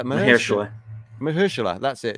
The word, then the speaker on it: Mahershala: All right, Marashala Ali. Okay, in MCU Vampire Adventure Blade. No, is it how do you spell it? Mahershala.